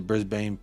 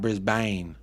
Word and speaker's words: Brisbane: totally right with the Brisbane Brisbane pronunciation hey there you go brisban not Brisbane uh honestly I was